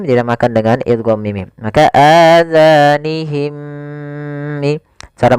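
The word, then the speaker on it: آذانهم: Hati-hati dalam pelafalan zalnya, jangan sampai terbaca dengan huruf za. Kemudian mim mati bertemu mim dinamakan dengan idgham mim. Maka adzanihim.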